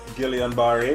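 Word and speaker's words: Guillain-Barré: me uh is it guillain-barre syndrome um some people pronounce it gillian barry which is like the english pronunciation or some people don't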